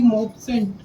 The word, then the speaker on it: Maupassant: यही स्पेलिंग गलत है शायद। हाँ, NECK LAC। ऑथर और बता दो भैया इसके। गाय डी मॉपसेंट।